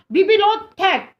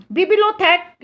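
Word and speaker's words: bibliothèque: अब बच्चों ऐसा था in France were the बिबिलोथेक blue.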